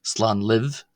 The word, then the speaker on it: Slán libh: Uh so if you're addressing a group of family members leaving, you would say slan live, slan live as opposed to slan lat.